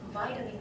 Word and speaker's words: vitamin: 你知道啊？你们常常会用那种中文式的那英文，然后来讲。我跟你们提一下，虽然不是说在取笑我的学生，但是真的有点好笑，跟你们分享一下。我之前啊，就是大一的时候啊，大一我都会让他们练习口说。然后呢，我有一次要他们讲说是跟营养有关的东西，他们喜欢吃什么。然后他们就会开始跟我讲说，有些人喜欢吃麦当劳，他们就讲麦当劳，对，哪来的麦当劳？怎么念？它是念 McDonald's，好，后面是一撇 s 哦，哈，McDonald's 它是一个姓，好吗？是一个姓，没有麦当劳这样子的音，是 McDonald's。好，再来还有什么？哦，维他命 C，等我一下吧，哈，维他命 C，维他命 C 你怎么念？很多人哦，口试当下给我维他命 C，哇，念得非常的字正腔圆，维他命 C 这样子跟我讲。答案是 vitamin C，因为 vitamin 是 bio 没有 v 这个音，是 vitamin。好，这个题外话了哈。Okay, go back to the robot.